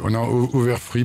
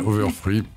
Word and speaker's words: Overfree: On s'écoutera les excellents Overfree, pardon, on dit, hein, je me prononce mal, Overfree.